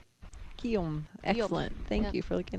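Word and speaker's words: Guillaume: So, Gom is how you pronounce the men's leader right now, and it's the French name for William. Guom.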